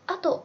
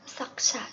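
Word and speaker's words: 作者: Kakareteirukoto o ato onashi 自分同じ気持ちになって読む。Xin lỗi các bạn một chút, là cái chữ này mình hen căng miss, nó là chữ sakusha chứ không phải là ato nha.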